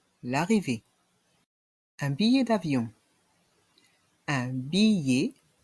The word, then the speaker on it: billet: un billet d'avion un billet ici nous avons le son ye avec la voyelle i devant i un billet